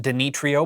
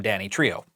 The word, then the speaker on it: Danitrio: the correct pronunciation because the company used to be known just as Dany um they added the trio later on to become Danny Trio now uh Danny Trio